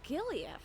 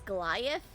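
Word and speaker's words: Giliath: Oh, it was Gileath. Yeah, I know, that sounds pretty bad. I've always pronounced it as Goliath, and I know that's not how it looks, but for some reason, my brain made it into Goliath.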